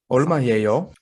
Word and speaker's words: 얼마예요: 얼마예요? Wow. Did I Is that kill it? correct, professional? Yeah, that's a native pronunciation.